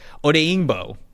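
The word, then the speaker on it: Odeyingbo: uh di o OD day oh my gosh odingo that's how you say it there you go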